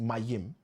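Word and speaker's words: מים: H2O, which we've said is water, which we've said in Hebrew, is meme, pronounced Mayim.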